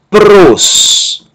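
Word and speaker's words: πρός: A palavra seguinte, ela é monossilábica, ela só tem uma sílaba. Pi, rho, sigma, pi, rho, ômicron, sigma. Pros.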